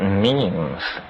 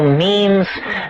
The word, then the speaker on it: meme: last year about about memes you know what memes are memes are the smallest units of a concept and they're like genes the word is deliberately constructed to to rhyme with Gene and so when I